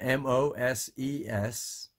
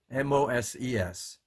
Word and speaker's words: Moses: I-S-A-A-C and M-O-S-E-S. And M-C-N-A-B-B. You can do the same thing. M-O-S-E-S. Moses. Moses. Isaac is pronounced as Isaac.